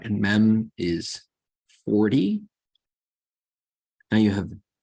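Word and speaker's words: מם: Then we have mem. Mem is the M sound, as in moon, moon.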